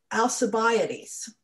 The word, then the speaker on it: Alcibiades: say his name right i think it's al cabiades okay um and uh and and i i think the english version is usually alcibiades so i've heard people